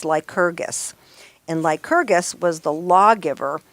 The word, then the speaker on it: Lycurgus: Well, I got to this guy, and this is how I think you pronounce his name. It's Lycurgus.